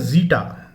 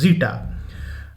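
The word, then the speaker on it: Zeta: Next है जीटा। The word is जीटा, इट्स नॉट जेटा और something like something else, this is जीटा।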